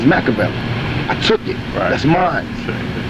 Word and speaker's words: Makaveli: my name is not Machiavelli my name is Makaveli I took it that's